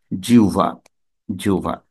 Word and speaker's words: জিহ্বা: আমরা একটু আগেই দেখছিলাম জিহ্বা উচ্চারণ করি আমরা তাহলে জিহ্বা হচ্ছে ভুল শুদ্ধ উচ্চারণ হচ্ছে জিউভা ঠিক বিহব্ব হচ্ছে ভুল